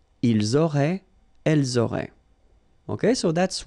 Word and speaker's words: ils auraient: Ils auraient, so liaison here. Elles auraient. And then look, if you've got A-I-E-N-T, then phonetically it goes like aurait. Okay, so phonetically you've got